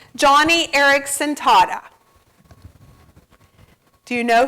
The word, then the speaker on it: Joni: Although her name is spelled Joni, she refers to it as Joni because she was named after her dad.